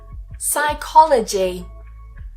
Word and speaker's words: psychology: I for example psychiatrist so we don't try and say the P psychiatrist psychic psychic psychology psychology psychotherapy psychotherapy psychotherapy psychotic psychotic.